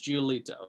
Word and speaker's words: Giolito: you'll have to excuse my ignorance what's it pronounced lucas toledo giolito lucas giolito the italian italian come on what's gonna happen